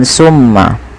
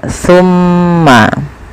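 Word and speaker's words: ثُمَّ: hati-hati teman-teman dalam pelafalan jangan sampai dibaca dengan Sin ya Jangan dibaca dengan tmma tapi dia tumma pakai Sa bukan pakai Sin ya pakai Sa bukan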